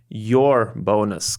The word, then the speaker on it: URBONUS: I would just uh change the pronunciation of it I would say it your bonus cuz it is your bonus guys BM plus Community